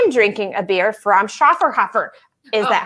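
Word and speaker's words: Schöfferhofer: you say it liz shaw for however you know the grapefruit beer that they sell in epcot oh okay i think you say it shaw for hoffer so um this is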